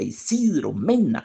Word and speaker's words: Isidro Mena: muy bien como melodía todos son todos son nombres graves con acento en la penúltima sílaba malaquías badilla Isidro Mena Jacinto Alfaro Isidro Mena